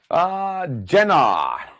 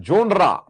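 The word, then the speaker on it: genre: तो जोनरा वर्ड हमें नहीं बोलना है, उच्चारण की बात है, मीनिंग वही है, जेनर। जेनर, अब आपने क्या, जोनर, जेनर, जेनर, इट्स अ जेनर।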